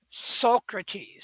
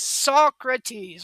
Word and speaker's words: Socrates: Um his teacher though, Socrates, Socrates or Socrates, which would be the proper way to say it, um obviously had a